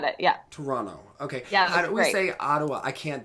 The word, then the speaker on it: Toronto: second like a Toronto doesn't really have a second tee when you pronounce it I said it yeah Toronto okay yeah Ottawa I